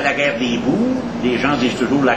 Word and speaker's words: Boers: à la guerre des boers. Les gens disent toujours la guerre des boers, mais il faut dire boer, c'est un mot hollandais. O-E en hollandais, on prononce ça ou.